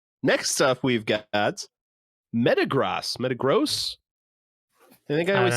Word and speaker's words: Metagross: i say well okay let me look at the how to say it met uh gross it still spells it the same in the pronunciation g-r-o-s-s i can only imagine it's saying gross metagross all right we were